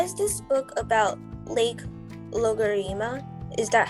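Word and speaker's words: Loughareema: mr patty why is this book about lake logarima is that how you pronounce it so this is the this is the um the name the name of the real lake so it's called lokarima and so it's that kind of words in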